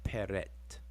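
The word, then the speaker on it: pr.t: translate it as prt the egyptiological spelling and pronunciation is peret okay so i'm giving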